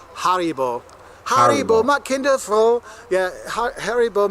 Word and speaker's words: Haribo: gummy bears har yeah Germans will not understand you say hary bow it's called Haribo Haro my kindful yeah